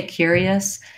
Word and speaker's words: curious: it accurately and correctly once I can say curious and curiosity uh easily and effectively with correct pronunciation by themselves I want to start to